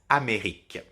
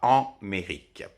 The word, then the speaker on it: Amérique: vous donne par exemple Amérique dans ce cas-là absolument pas de son nasal on ne prononce absolument pas en mérique d'accord donc je vais